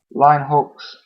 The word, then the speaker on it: Linux: it's a educated person I'll tend to use Lin Hawks because Lin Hawks is how you pronounce it properly you know how programmers